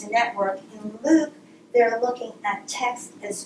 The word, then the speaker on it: LIWC: L-I-W-C is pronounced LIWC. I'm not quite sure why, but that's what they say.